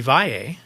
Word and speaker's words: Valle: Or if we add an E, but still call it Vall, that is a Spanish name, and it would be Valle.